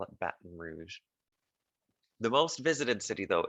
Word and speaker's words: Baton Rouge: Baton Rouge. I know we would say it differently here and in French, but they call it Baton Rouge.